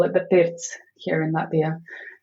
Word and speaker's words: pirts: Um yes, we call it the pirts here in Latvia. How do you spell that?